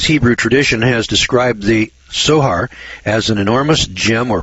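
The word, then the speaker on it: צֹהַר: It's spelled T-S-O-H-A-R, sohar, which is translated as window, but does not mean window or opening at all.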